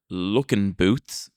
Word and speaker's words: Luckenbooth: The word looking boots, which is spelled Luckenbooth, it comes from the